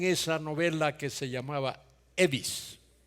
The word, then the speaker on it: Evis: Yo intentaba explicarle que no es Elvis, que es Evis, pero seguían llamándome como el rockero. Otros querían mejorar un poco la pronunciación y me llamaban Ives.